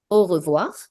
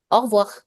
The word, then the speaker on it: au revoir: Either you pronounce it distinctively by saying au revoir, or many natives just combine it and say it in one go, and you hear it as au revoir. Au revoir. Both are accepted.